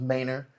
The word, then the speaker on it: Manor: So It could have been when their people came, their name was longer and it was Manor, and then it got shortened, even though they're still pronouncing it Manor.